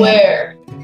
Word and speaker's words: where: And where, that means H is a silent letter.